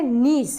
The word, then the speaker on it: niche: हैं हैबिटेट, या इसी को बुलाया जाता है नीश, है ना। वर्ड आप बार बार देखेंगे कि बुक में लिखा है NICHE, इसको हम पढ़ेंगे नीश, है ना, क्या पढ़ेंगे, नीश, है ना।